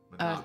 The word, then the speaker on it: Manabu: figures was manabu manabu is it manabu or manabu manabu emphasis on the first syllable manabu okay manabu hashizume